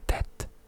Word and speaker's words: det: it's det and not det. Det. A lot of the, well, I would say half of the time, a final letter is not pronounced in Norwegian.